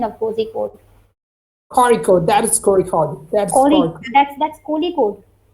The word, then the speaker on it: Kozhikode: Like, what is the actual pronunciation of Kozhikode? Kozhikode, that is Kozhikode.